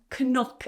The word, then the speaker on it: knock: So for example, knock on the door, my knee, I don't say knee and knock and knife. I say knee, knock, knife.